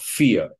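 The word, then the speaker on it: vier: This V, in this case, is pronounced like an F, like in English, for or if.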